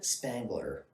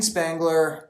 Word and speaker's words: Spangler: is funny is that her last name rhymes with wrangler oh wow jean spangler um she was an